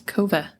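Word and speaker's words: Kove: the co 450 rally that's not how you say it what I even put pronunciation on there for you it's kov did yours update yeah I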